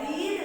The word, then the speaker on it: read: ये अब आप देखेंगे कि रीड की तो तीनों फॉर्म की सेम होती है, सिर्फ प्रोनाउंसिएशन डिफरेंट होता है। रीड, रेड, रीड ऐसे बोलते हैं, लेकिन स्पेलिंग तीनों की सेम होती है, READ, READ, READ।